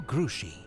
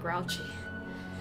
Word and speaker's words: Grouchy: that's cool 22 marshall grushie oh crucial not grouchy oops that was a really bad pronunciation of my part it looks like grouchy that's why i said it that way but obviously it's french so um his conduct